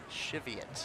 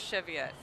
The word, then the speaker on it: Cheviot: discussion the other day on whether I was pronouncing that correctly so I just want to say it again Cheviot yes my mom used to work there it is Cheviot thank you very much Anne this was after